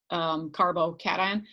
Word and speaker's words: carbocation: When they look at this, they see cation like vacation. That's not how you pronounce it. So just a little bit of, not nomenclature here, but the pronunciation guide is to think of it like carbo, like when you eat a lot of pasta, carbohydrates, and then cat, because who doesn't love cats?